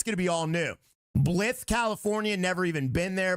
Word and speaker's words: Blythe: It's pronounced Blythe.